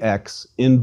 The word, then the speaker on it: xi: Xi is a double consonant equivalent to X, that is a K and S sound, and pronounced like the X in box. Please repeat, Xi, X.